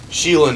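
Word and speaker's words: Xilonen: might look like you know if you got sheilan in which is how you actually pronounce it I've been saying it wrong this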